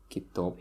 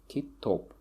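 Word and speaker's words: китоб: Kitop here, or Kitop, okay? Which means book. So as you can see, the stress falls on the last syllable.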